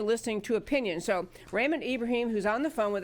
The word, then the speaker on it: Ibrahim: in America so I believe we have Raymond Ibrahim on the phone hi hi Debbie yellow nice